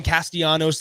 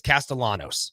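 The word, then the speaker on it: Castellanos: in in Thomas castalanos A lot of people want to call him castanos like Nick castanos from the Philadelphia Phillies it's castalanos you actually pronounce the L's when you with the two L's in his name so you have Thomas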